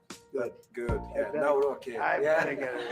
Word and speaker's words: Nawrocki: Gave me a little different pronunciation. I said, I want to get it perfect. Did I get it right? Yeah, Good. Good. Yeah, Nawrocki.